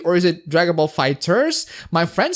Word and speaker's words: FighterZ: It is pronounced Fighters.